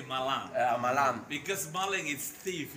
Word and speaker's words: Malang: And we also learned a lot the background about the Malan. We know Malang. Malan. This is You better say Malang.